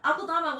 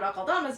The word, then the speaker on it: Akeldama: So the origin of Lord Akeldama's name is Akeldama, which I think actually is pronounced Akeldama, but I'm not sure on that because I don't speak Farsi among any other Persian root languages.